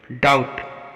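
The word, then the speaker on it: doubt: डाउट, यहाँ पर भी टी से पहले बी आया है तो यहाँ पर भी बी का उच्चारण नहीं होगा, इसको डाउट पढ़ा जाएगा।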